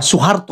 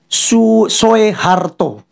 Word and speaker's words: Soeharto: kita suruh baca itu mereka bacanya Soe Karno atau Soe Harto I kan Soe Harto atau soearno misalnya Soekarno Soeharto Yaya kan Nah karena ada